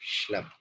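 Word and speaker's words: Schlemm: इसकी प्रोनाउंस करनी है अपने, कैनाल ऑफ श्लेम।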